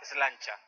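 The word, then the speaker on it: sláinte: En Irlanda sería, bueno, en inglés sería cheers, pero un irlandés diría slancha. Slancha.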